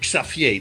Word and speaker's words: Xavier: Xavier was his name, Xavier, that's how we pronounce it in Holland.